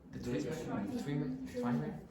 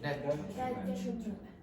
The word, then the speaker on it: detriment: How do you pronounce that? The treatment? Detriment. Detriment. Oh. Just be careful, all of you do this. Detriment. Detriment. Exactly.